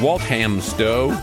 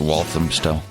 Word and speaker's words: Walthamstow: the things pronounced okay and Walt hams dough United Kingdom dad I think it's pronounced Walthamstow I don't know about